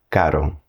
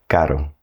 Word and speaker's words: caro: soft R, which is pronounced more like a tap on the roof of your mouth. Caro. Caro.